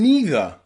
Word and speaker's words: neither: But that's not the only way we can pronounce these two words in English, because some people will pronounce them either and neither. And both of those pronunciations are correct, okay?